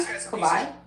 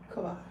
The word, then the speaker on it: Kawai: Kabay. Shar. Spell it. K A W A I Kabai.